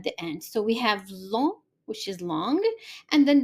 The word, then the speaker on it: long: So the pronunciation of the feminine is similar to how we pronounce it in English, long, but the masculine, the G, you do not pronounce it. Basically, we just pronounce LON, long, long, long.